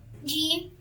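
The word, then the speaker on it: جيم: Okay, when middle tongue touches roof of the mouth, so Jim will produce. Okay, Jim. Say Jim. Jim. Jim. Jim. Yes. Okay. So Jim is light and most dialects smooth sound like J.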